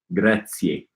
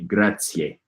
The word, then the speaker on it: grazie: Okay, Jorge says, make sure you pronounce the final E in grazie. Ah, in Esperanto it would be grazie.